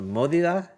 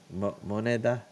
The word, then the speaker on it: moneda: It's a modida. What's it No, called? modida. Moneda.